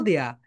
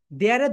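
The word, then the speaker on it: there: দিয়া, ইউ ক্যান গো দেয়া। দেয়ারের দুইটা প্রোনাউন্সিয়েশন বলো, একটা হচ্ছে দেয়া, দেয়া, ব্রিটিশ সাউন্ড, ব্রিটিশ সাউন্ড, দেয়া, দেয়া, অ্যান্ড আমেরিকান সাউন্ড দেয়ার, দেয়ার, দেয়া, দেয়ার, দেয়া, দেয়ার, দেয়া, দেয়ার।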